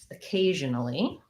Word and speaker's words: occasionally: was occasionally um again second syllable stress that seems to be popular today um so again i have a letter o but it says the uh sound because it's unstressed schwa at the start of the word uh k